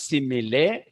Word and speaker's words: simile: This is written as simile, but you will pronounce as simile.